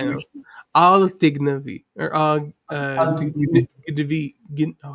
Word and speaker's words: אל תגנבי: All technology or Al tignevi.